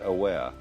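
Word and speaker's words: あわれ: It's spelt like our word aware, only pronounced Aware.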